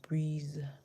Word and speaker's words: breeze: We can change the F and we can get the word breeze. Breeze, breeze. So we have B, R, and ease, breeze. The E at the end, of course, is silent.